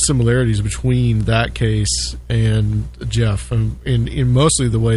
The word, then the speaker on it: Gef: It's such a funny thing, the Jeff, the way Jeff is spelled, GEF.